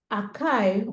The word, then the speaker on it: IKEA: I think if I can remember vividly, Akai, or Ike, is spelled A-K-E, A-K-E, sorry, IKEA.